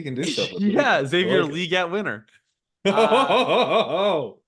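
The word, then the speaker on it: Xavier Legette: Question 1: do you guys care that it's actually pronounced Xavier Leggette? No. I kind of like it. Okay, well, yeah. See, there we go. In my head, he's Xavier Mingo. That's all. Xavier Mingo. Xavier Leggette can win you your league.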